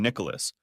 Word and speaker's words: Nicholas: To her, I've always been Nicholas, pronouncing all three syllables rather than blending in two.